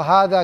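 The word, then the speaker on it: هذا: Ini harusnya kan pakai alif, tapi penulisannya udah dikenal seperti itu. Meskipun bacanya panjang.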